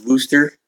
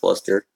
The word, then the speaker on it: Worcester: Notice she says Worcester. That's Worcester. She don't know how to pronounce it right.